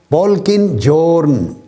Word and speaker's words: Polkinghorne: ماہر طبیعیات، موجودہ دور کا نامور سائنسدان، جان پولکن جورن. یہ اس کا سپیلنگ ہے POLKINGHORNE، جان پولکن جورن.